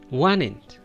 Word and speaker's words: wanted: Wanted. Wanted. The best pronunciation, you're going to skip the T sound and just give support to the N sound.